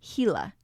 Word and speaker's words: Gila: One of the most interesting creatures of Saguaro is the Gila monster. Spelled Gila, it is pronounced Gila.